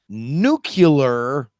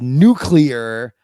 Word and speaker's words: nuclear: similar but well no if you say nucular you're putting an extra syllable between the C and Al but I think I